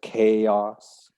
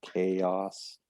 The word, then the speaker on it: chaos: things change um it's not too hard to pronounce that one just learn it as chaos yes i like it separated vowel sounds chaos again i never think the origin of the